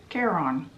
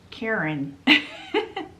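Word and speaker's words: Charon: look up the pronunciation the first pronunciation was Care on or Karen literally the guy that fairies you to the underworld's name is Karen uh it's hilarious so I'm going to pronounce it Caron so that we can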